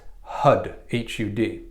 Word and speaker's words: Har: chant h8r har har but it's more pronounced HUD HUD but it's spelled har Stud I don't know